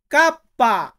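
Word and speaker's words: kappa: কে, কাপ্পা। কাপ্পা মানে কে কে আমরা Italian বর্ণমালাতে বলবো কাপ্পা।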